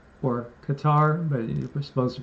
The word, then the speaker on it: Qatar: and Qatar, or Qatar, but you're supposed to pronounce it Qatar, signed a deal, right, to a mutual defense pact, kind of like NATO.